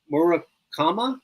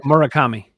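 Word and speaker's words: Murakami: But the guy the White Socks drafted, the guy the White Socks signed for multi-millions of dollars, Morama. Did I say it right? Morakami. Munitaka Morakami. I was I wanted to hear him say it.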